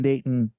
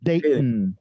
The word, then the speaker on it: Dayton: We pronounce it day, glottal stop, like we were English. All right. In. So Dayton, you don't hear the T. Yeah, like if it sounds really British, like Dayton.